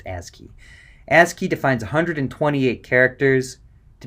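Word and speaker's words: ASCII: So if you ever see that acronym, it's pronounced ASI key.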